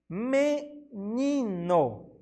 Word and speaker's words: menino: Temos a palavrinha menino. Ótimo, menino. Ou seja, a penúltima sílaba é a tônica, né? O ni.